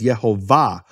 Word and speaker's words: Yehovah: the of the word the emphasis of the word is in the final syllable it's marked that way in all Hebrew manuscripts with vowels no question about it all the Hebrew manuscripts with vowels mark it as yehovah and what happens because